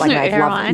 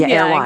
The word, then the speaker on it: Erewhon: Erewhon. Erewhon.